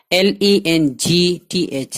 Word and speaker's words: length: LENGTH, length, LENGTH, length, जी साइलेंट है यहाँ, length, लंबाई, दराजी, तूल.